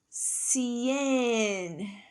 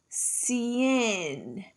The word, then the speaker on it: cien: Cien, cien. That means 100. Do you hear that sound? It's like an S sound in the beginning.